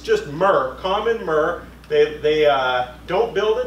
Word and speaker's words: murre: And it's pronounced murre, not Muir, as in John Muir.